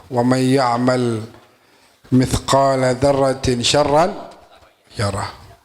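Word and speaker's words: شرا: Faman ya'mal mithqala dzarratin khairan yarah wa man ya'mal mithqala dzarratin syarran yarah. Pakai shin ya, jangan salah bacanya. Syarran, syar.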